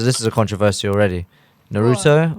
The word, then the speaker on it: Naruto: is a controversy already Naruto or Naruto I say Naruto personally Naruto no it's Naruto you say the American way what okay what's the Japanese way the Pokemon artists thank